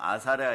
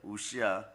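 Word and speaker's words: 웃시야: 다른 발음으로는 뭐 아사랴 이러는데 우시아입니다. 우시아.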